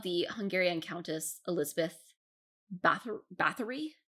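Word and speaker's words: Báthory: hungarian countess elizabeth bathur bathory is that how they say it that's battory that's factory yeah i know nothing about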